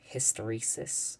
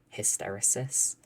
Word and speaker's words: hysteresis: But it's something called hysteresis or hysterosis depending on how you want to say it. There's different pronunciations. So some materials will absorb um more energy than they release.